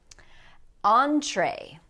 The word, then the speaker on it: entree: But all these words are going to end in the sound A. Saute. This is a word that's used often in cooking. Foyer. Foyer is an entryway. Entree.